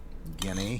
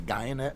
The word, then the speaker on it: Guyenet: name for sure, Stefan Guyenet, he says pronounced like DNA. I would just say Guyenet, because I'm American.